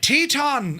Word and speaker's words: Teton: Grand Teton, is it Teton? Teton? Is it Teton? Can you not pronounce or spell things? Teton. Thanks, lads. I knew the Americans or Canadians would like that. Teton is right.